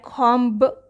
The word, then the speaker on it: comb: we say com but we write comb with the burst sound at the end here b is silent in the word knife